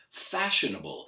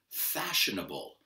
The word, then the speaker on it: fashionable: Y el hable este lo pronunciamos como un toro, a bull, fashionable. Dilo conmigo, fashionable.